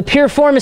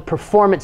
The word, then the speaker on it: piriformis: and static stretching the piriformis stretch some people mispronounce it and call it the performance stretch but it's named after